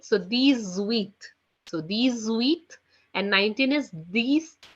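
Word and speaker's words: huit: as Seth Seth okay eight in French is being written down as h u i t which is being pronounced as wheat wheat okay which is being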